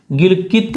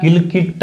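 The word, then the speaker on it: गिलगित: इस गी का मतलब है गिलकिट, गिलकित भी लिखते हैं हिंदी में, गिलकित या गिलकिट एक ही बात है, टैचो बोलो चाहे तय बोलो, दोनों ही नाम सही है, ठीक है।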